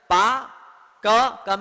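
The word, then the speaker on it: park: पार्क है ना, पा क में रखी रेत ऊपर ऐसे। तो अंग्रेजी में क्या होता है कि कई सारे शब्दों के र का उच्चारण नहीं करते हैं, तो पाक बोलते, पाक। पार्क को गाड़ी पार करके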